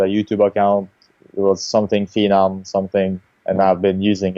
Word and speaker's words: Phenom: all, which is it, Phenom or Phenom? uh, okay, I need to go to the past a little bit. Okay. It was originally the American pronunciation is the correct one because The Phenom.